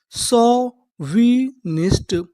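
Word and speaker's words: chauvinist: अगर आपको इंग्लिश में कहीं पर ए यू लिखा मिले तो हम लोग ए यू को पढ़ते हैं औ।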